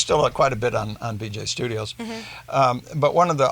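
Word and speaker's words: Beejay: It was BJ. It's spelled B-E-E-J-A-Y.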